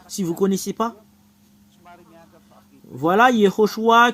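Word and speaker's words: יְהוֹשֻׁעַ: le nom Yehoshua et Josué qui est Yehoshua si vous connaissez pas voilà Yehoshua que tout le monde prononce c'est Josué le Yehoshua que vous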